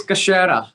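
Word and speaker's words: Kachera: the pronouncement on this so how do you pronounce this this is kashira okay go ahead so over this kashara it's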